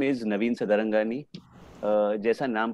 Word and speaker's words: Sadarangani: My name is Navin Sadarangani. जैसा नाम पे ही पता चलता है, इतना लंबा सरनेम है, मतलब सिंधी है. All Sindhi surnames are long and they rhyme with money.